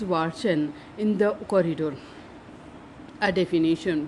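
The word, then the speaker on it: Watschen: A few times she was given what was known as a Watson, pronounced Watson, in the corridor.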